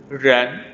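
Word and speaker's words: rén: Ini qi siu jun ci se ren. Nah, ini R bukan jangan ren. Nah, itu salah. Ren ya, jadi sama kayak pelafalan bahasa Inggris ya. R itu tidak terdengar R gitu ya. Jadi ren, oke?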